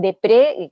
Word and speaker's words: Despret: feminista que se llama vancian de pre que se escribe despret no que ella tiene